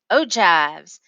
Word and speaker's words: ogives: They are also called ogives, pronounced ogives. So, anyway, let's get into what the heck this ogive is.